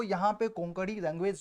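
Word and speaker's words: कोंकणी: तो यहां पर भी देखिएगा सेम आप लोगों को यहां पर कोंकड़ी लैंग्वेज जो एक गोवा का रीजनल लैंग्वेज है केरल और महाराष्ट्र में भी बोला जाता है तो इसका प्रोनाउंसिएशन कोकड़ी है एक्चुअल में हिंदी में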